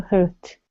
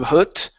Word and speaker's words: heart: But the thorn had not yet reached her heart, so the rose's heart remained white, for only a nightingale's heart's blood can crimson the heart of a rose.